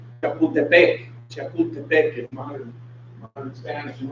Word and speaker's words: Chapultepec: Chapultepec, which is pronounced Chapultepec.